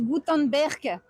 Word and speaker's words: Gutenberg: Ça se dit Goutenberg. Gutenberg, moi je le prononce comme j'ai envie. Gutenberg. Gutanberg.